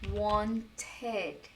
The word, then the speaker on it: wanted: Mas, em outros momentos, eu vou pronunciar o ed também, como no verbo to want, ok? Want fica wanted. He's a wanted man. Because I'm wanted, dead or alive. Né? Então fica want, wanted.